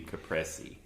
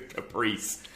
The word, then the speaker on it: caprese: And I hate to use the most pretentious pronunciation for things, but the way I understand is it's supposed to be caprese, but it sounds so fussy. So let's call it the Chevrolet Caprice salad. So the Caprice.